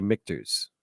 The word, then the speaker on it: Michter's: me to go um i want to say mikters well you said it right it is yes